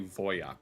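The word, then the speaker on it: Wojak: Because uh yeah, remember we pronounce it WJack, but it's technically Voyak all places.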